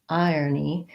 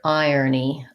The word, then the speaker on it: irony: You might also hear irony, irony. irony. When we have the word iron, which has this pronunciation, like I iron my clothes.